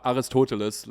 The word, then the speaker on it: Aristotle: it's in moderation it's well it's it's AR Aristotle to get philosophical on your Aristotle you say toal I I keep forgetting how to say it because aristois is what I is what I what I